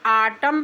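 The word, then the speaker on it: autumn: Example में है ए यू टी यू एम एन हम इसको ऑटम पढ़ेंगे। एन को साइलेंट कर देंगे।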